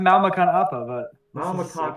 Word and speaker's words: Makan Apa: Well, it's pronounced Makan Appa, but this is a Makan calendar Appa.